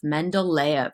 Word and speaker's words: Mendeleev: Mendeleev is how you say his name.